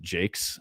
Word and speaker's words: Jacques: Uh Brian Jake, it's you know spelled Jacques with an S on the end but I guess he's British and pronounces it Jakes.